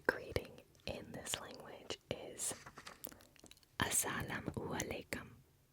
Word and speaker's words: Assalamu alaikum: The greeting in this language is Assalamu alaikum. Assalamu alaikum.